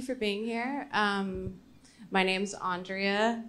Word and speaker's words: Andrea: My name's Andrea. You can say it like five ways, but it's actually Andrea.